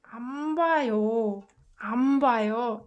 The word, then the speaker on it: 안 봐요: This one is pronounced like 안 봐요. This got assimilated to sound when it meets b.